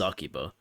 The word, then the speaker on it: Akiba: Oh, they're actually pronouncing it correctly. In the last game, they said Akiba. It's It is Akiba.